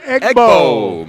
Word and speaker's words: Egbo: name sounds like an annual SEC rivalry game between Ole Miss and Mississippi State. Yeah, the Egg Bowl.